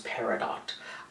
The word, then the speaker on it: Peridot: what it was or how to pronounce it, but apparently it's Peridot.